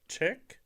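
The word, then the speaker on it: Cheiq: Chick.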